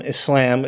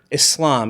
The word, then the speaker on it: Islam: is pronounced Islam or Islam it's not pronounced Islam okay so number one if you see someone on the news talking about Muslims or Islam and they pronounce it with the z sound it might be something